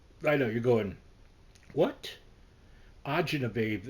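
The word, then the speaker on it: acini di pepe: know you're going what ainab babe it looks like it's spelled aini de Pepe h c i n i d e p e p e but Italian called AA babe and it's a little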